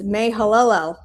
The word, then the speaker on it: Mahalalel: I missed a constant syllable. It's Mahalalel.